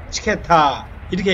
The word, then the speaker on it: 므츠케타: 무치케타. 무치케타의 M자, 처음에 오는 조지아의 M은 사실은 묵음 처리됩니다. 그래서 조지아에서 무치케타 이러면 사실은 잘 못 알아들었고 물을 거의 발음을 안 하고 치케타 이렇게 얘기합니다.